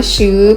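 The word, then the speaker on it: 十: นี้ ฟ้า นะ คะ ชื่อ เป็น เครื่อง หมาย บวก ก็ จริง แต่ ว่า คำ นี้ นะ คะ อ่าน ว่า ชื่อ หรือ แปล ว่า สิบ นะ คะ ห้าม เขียน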